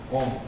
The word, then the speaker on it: Om: Akára, ukára, makára, három hangol áll, és kiejtve akkor Om.